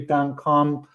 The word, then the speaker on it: Duncombe: It should be Duncombe with an E at the end. I guess it's French. The E is silent.